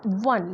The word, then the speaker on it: one: लिखा हुआ है कि इट is pronounced वन like it starts with a W, यानी हम ONE वन को ऐसे पढ़ते हैं जैसे WON पढ़ते हैं, तो इसलिए वहाँ पे हमारा अ लगता है।